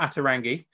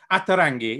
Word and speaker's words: Ata Rangi: It's not Ata Rangi. Mackenzie very helpfully just said, think of it as though you're pronouncing it in Italian.